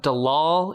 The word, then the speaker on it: Dallol: Everyone look up Dalal, Ethiopia, and it's spelled Dallol.